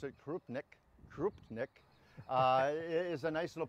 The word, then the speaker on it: krupnik: I pronounce it Krupnik.